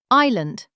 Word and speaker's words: island: Island, six letters. I I lend. The S is silent.